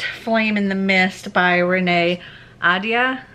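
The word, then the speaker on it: Renée Ahdieh: in the mist by renee ada i think is actually how it's pronounced and i'm unfortunately only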